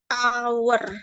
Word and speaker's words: hour: sini ini enggak ya an hour dia pakai vokal Kenapa karena pembacaannya itu dari kata a a jadi our kayak gini kan bacanya our a dia kan